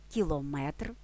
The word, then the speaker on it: кілометр: три голки чотири копійки в іменниках одиницях вимірювання наголос падає на метр дециметр кілометр але периметр це не одиниця вимірювання у складних іменниках із